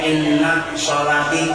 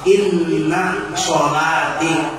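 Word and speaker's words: إن صلاتي: kitab ini in kalimatnya inati jangan membaca in itu perlu diuran kalau orang membaca doaah jangan membacanya lamnya innaati innaati bukan inati orang melihatal Inna shati Jangan dibaca inati jadi Inna shati wusuki bahwasanya sembahyangk UJ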